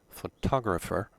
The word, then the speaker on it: photographer: syllable sectional onsets but photographer the stress is on the second syllable so pronunciation and stress